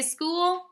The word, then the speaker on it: school: more time good school I want to make sure that you notice the CH at the beginning of school now what sound does ch usually make good it usually says but you hear in